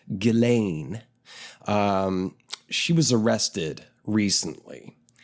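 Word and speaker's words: Ghislaine: first name though funny spelt it is is pronounced galain um she was arrested recently and a lot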